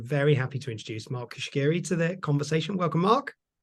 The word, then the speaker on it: Cuschieri: this episode I'm very happy to introduce Mark Kiri to the conversation welcome Mark welcome thank you